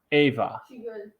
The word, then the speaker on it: Eva: Germany Nina's grandmother um it's spelled Eva and it's pronounced Ava better than she was